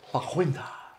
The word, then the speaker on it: La Quinta: Somebody already was upset that you couldn't pronounce it right. La Quinta.